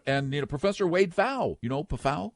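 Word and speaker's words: Pfau: But the fact of the matter is that this article says they're a lot better than you think. And and you know, Professor Wade Fowl, you know, PA F A, but it's pronounced FA.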